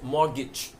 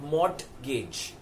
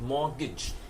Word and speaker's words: mortgage: many people call it MOT gage so it is spelled mortgage but the way it is said or pronounced is more the T is silent mortgage and again it's engaged